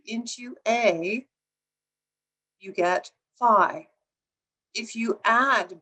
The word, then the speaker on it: phi: so what is phi sometimes pronounced fee but if you are aware that there are fraternities like phi beta kappa you know that usually it's pronounced phi so phi is an